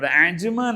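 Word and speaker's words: Ajman: മതി അതിൽ ഒന്നുകൂടി പറയേണ്ടത് അജ്മാൻ എന്ന് പറയുമ്പോഴും എന്ന ഉച്ചാരണം അറബി അറിയുന്നവർ പോലും പറയില്ല അജ്മാൻ എന്ന പറയ അജ്മാൻ എന്ന് പറയണം അജ്മാൻ അനആണ് ഓക്കേ അതങ്ങനെ കഴിഞ്ഞു അടുത്ത്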